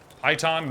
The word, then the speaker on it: python: dude oh my God python rhymes with sit on all right well I guess I've been saying sit on wrong all these years all right come on